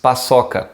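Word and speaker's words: paçoca: sweets in brazil so the name is pasoka again this sea thing and we say like two s's double s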